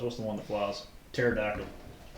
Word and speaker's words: pterodactyl: Pterodactyl. Silent P P. right there at the beginning, yeah.